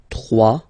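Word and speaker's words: trois: Final S not pronounced. 3.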